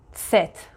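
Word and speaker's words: Zett: اپسیلون با صدای ی ست ست با صدای سه ست توجه داشته باشین که وقتی که من تلفظش می‌کنم یه ت خیلی خفیفی اولش باید گفته بشه ست صدای سه میده سه مثل سوبل سوبل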